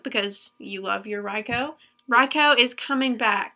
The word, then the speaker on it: Raikou: you love your raikou Rocco is coming back can you say Rocco or Raikou it's Rocco technique I've been saying